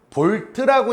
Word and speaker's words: 볼트: 단위는요 똑같이 V라고 쓰는데 읽을 때 V라고 읽어? 안 읽어? 안 읽죠. 뭐라고 읽죠? 볼트라고 읽죠.